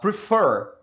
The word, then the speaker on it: prefer: Prefer. Então tem mais que uma sílaba, são duas. Prefer, ok? E a sílaba tônica é a última.